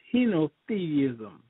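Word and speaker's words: henotheism: people uh adhering to and that word is heno theism you heard that word before repeat that again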